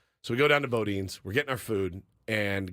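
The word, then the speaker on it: Boudin: we go down to Bodin we're getting our food and guy walks up because what's I pronounce it Budan but I don't know it's Bodin so boin bin so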